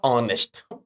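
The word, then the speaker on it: honest: एन लगाते, जैसे हमने कहा ऑनेस्ट, our, honour, honourable, honorary, air. यस, पढ़िए बच्चों फटाफट। ऑनेस्ट, हाँ इनमें सब में एच साइलेंट होता है बच्चों।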